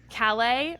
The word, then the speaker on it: Callais: Callais. As a Texan who grew up near Louisiana, I would pronounce that Calais or Calais.